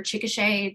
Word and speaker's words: Chickasha: that you were you can do you consider chickasha to be your is it and did i pronounce that right yeah you did good job